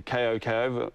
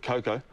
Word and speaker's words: Koko: So his name's Koko, but, you know, we called it Coco. Right. And, I was going to pronounce it Koko, actually, but I wasn't too sure. Yeah, well, basically, you know, we're one of those bands where it's K-O-K-O, so right. It's Koko, right. But we call ourselves Coco, and if anyone pronounces it correctly, right. Well, then it's a bonus, you know?